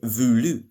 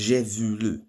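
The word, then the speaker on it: voulu: it had to be irregular so it's j vulu it's v o u l u julu remember no auxiliary in a tense changes at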